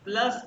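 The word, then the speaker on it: plus: आ जाओ ये देखो प्लस की स्पेलिंग वही है इंग्लिश वाले लेकिन इसको यू को उ कहते हैं तो ये होगा प्लुस प्लुस फिर पुस ग्लश जी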